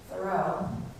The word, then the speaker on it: Thoreau: And she pronounces his name with the stress on the second syllable.